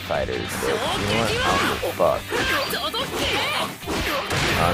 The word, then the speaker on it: FighterZ: Or maybe Dragon Ball FighterZ or Fighters, however you want to pronounce it. I think it's technically Fighters, but you know what?